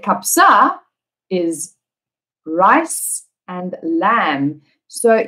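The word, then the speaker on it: kabsa: kapsa was and if you don't know what kapzai is you will not figure it out because the pronunciation of rice and lamb we need to say kapsa is rice and lamb so even if one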